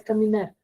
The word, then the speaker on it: caminar: di digo la palabra caminar tres tres mis tres sílabas tres Y dónde tiene la mayor fuerza de voz la sílaba nar mar caminar digo yo muy bien en nar Entonces qué tipo de palabra